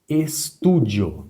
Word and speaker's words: estúdio: A palavra estúdio. Estúdio. A palavra estúdio. Vamos identificar a sílaba mais forte.